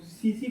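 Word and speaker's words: tsetse: ठीक है, सीसी फ्लाई, इसको सीसी फ्लाई, टी साइलेंट रहता है।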